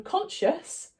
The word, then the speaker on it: conscious: words so for example in conscious we don't pronounce this C so we would underline